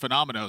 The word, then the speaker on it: Phenomeno: Like that is not the word phenomenal.